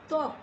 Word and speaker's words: ত্বক: তারপরে ত্বক, ত্বক লিখতে গেলেও কিন্তু আমরা শব্দের শুরুতে বহলা উচ্চারণ করছি, কিন্তু আমরা উচ্চারণে কোনো প্রভাবই দেখছি না।